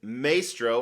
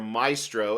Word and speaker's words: Maestro: that it's already here this is Maestro or Maestro as you guys like to call them you say it wrong by XM Studios so